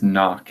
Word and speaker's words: Nock: of the step history you can pronounce that star as knock if I'm not mistaken